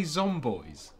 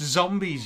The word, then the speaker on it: zombies: Did you just say zomboys? Yeah, why? It's pronounced zombies, you tard. What? Seriously? Yeah. I've been saying zomboys for 13 years.